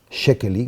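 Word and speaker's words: Székely: caso por un húngaro que se llamaba hanos shekel un apellido impronunciable es s Z e k e l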